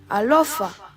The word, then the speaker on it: Alofa: A is pronounced like A in father. Alofa, alofa.